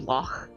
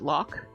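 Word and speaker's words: loch: in the end of lock cuz usually English people pronounce it lock with like a K on the end, but it's actually like lo, which is more of like a guttural ch sound.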